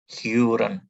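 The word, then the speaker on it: hören: Kemudian O.2, Huren. Huren. Bukan Horen ya.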